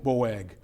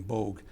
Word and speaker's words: Boag: he's going to support bo boag i like to mispronounce his name bogue because he's another useful